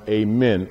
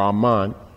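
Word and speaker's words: Amun: can see the way ahman is portrayed sometimes it's pronounced amen or oman the name means the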